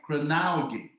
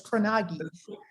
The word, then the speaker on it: Kronauge: I'm going to say this right, Kronauge, because it's German. Is that correct? Yeah, you actually did say it right. That's the Kronauge. proper, yes. It's not the American version, but that's the proper version. American is Kronauge.